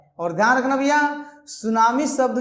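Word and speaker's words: tsunami: और ध्यान रखना भैया, सुनामी शब्द जो है जापानी वर्ड है, ठीक है। सुनामी जो है जापानी वर्ड है और इसमें टी साइलेंट होता है।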